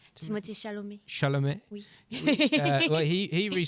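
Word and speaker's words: Chalamet: Well, uh, Timothy Charlemagne, am I pronouncing that right? Timothy Shalom.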